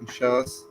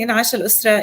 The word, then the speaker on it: In'ash al-Usra: Where can people find out more about Inshas? Wait, no, not Okay. I keep mispronouncing it. I'm sorry. In'ash al-Usra. In'ash In'ash al-Usra. Yeah. I see it in English, so I get confused.